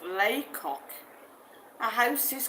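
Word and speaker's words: Lacock: Anne Shaw says near Lecoq, pronounced Laycock.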